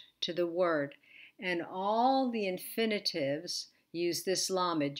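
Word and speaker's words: אַל: letters is the pataka and this will be al al is a negation particle particularly used with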